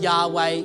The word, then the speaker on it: Yahweh: The proper pronunciation of Yahweh is to mimic breath.